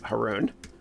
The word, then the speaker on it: Haroon: i'll go to me haroon people pronounce it heroine sometimes too eh but if you